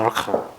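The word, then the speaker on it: מלכה: 이거는 이제 두 번째 오니까 여기가 단수, 이 단모음이기 때문에 이 슈바는 발음하면 안 되겠죠. 그래서 말레카가 아니라 말카가 됩니다. 말카.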